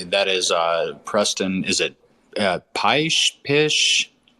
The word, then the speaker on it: Pysh: Is it Pysh? How do you pronounce that, Preston? Yeah, Pysh.